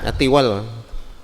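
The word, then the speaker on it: الطوال: Apa bacanya ya? Atiwal. Kalau enggak tuwal ya tawal ya. Tuwal saja. At-Tuwalu. Minal Kufiyyin wa Abul Fathi ibni Jinni wa tabi'ahuma al-musannifu wa bima warada min dhalika qauluhu.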